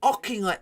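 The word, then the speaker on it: Auchinleck: You mean Ockinglet, Talbot? But yeah. I always get told you have to put the emphasis on the first part of the name.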